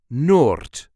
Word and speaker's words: noord: In Dutch, we call that noord. Noord. Make that a long O sound. Noord. Noord. Noord.